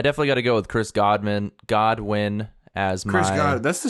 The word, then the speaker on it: Godwin: It's not. It's Chris Godwin. Chris Godwin? Chris Godwin. Chris Godwin. It's only 3 syllables.